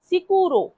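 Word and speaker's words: sicuro: সিকুরো।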